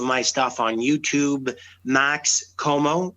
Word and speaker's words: Comeau: You can find some of my stuff on YouTube, Max Comeau, and Comeau is spelled Comeau, which is the French spelling, but basically you pronounce it just like you would Perry Como.